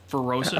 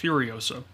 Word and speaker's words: Furiosa: First one? Ferosa? It's Furiosa. Oh, Furiosa.